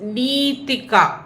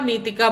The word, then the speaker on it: Nitika: नितिका her name is नीतिका। Okay वो नी थोड़ा लंबा है। तो जब उनका मंत्र हम बोलते हैं हमें वो लंबा नीतिका बोलना है। मतलब नीतिका ऐसे बोलना है। यह है करेक्ट प्रोनाउंसिएशन।